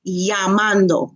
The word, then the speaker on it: llamando: done llamando por telefono remember the double L makes a y sound okay so llamando calling mis amigos Eston